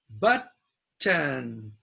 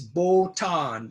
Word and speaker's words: button: But, button, boot or butte. Now, some Japanese pronounce this botan, but it's not botan. It's the short U. It's a stress on this, so it's short U.